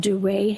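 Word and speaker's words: Duret: They're called duray hemorrhages. How do you spell that?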